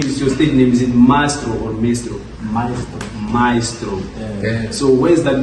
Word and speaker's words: Mystro: Maestro.